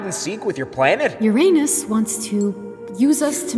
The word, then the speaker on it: Uranus: minute mate hello dear moons it's me here Ur anus and no it's not pronounced Uranus it's pronounced Uranus many planets confuse the pronunciation